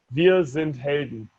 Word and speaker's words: Wir sind Helden: Wir sind Helden.